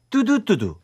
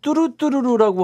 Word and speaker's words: 뚜두뚜두: 뚜두뚜두. 그런데 네. 노래를 들어보면은 네. 발음을 뚜루뚜루루라고 하는 것 같은데 제목이 뚜두뚜두더라고요.